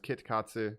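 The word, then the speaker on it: キットカット: They are fun, but a fun fact for Kit Kat relating to Japan, it's pronounced Kit Katsu. Katsu can also be to win.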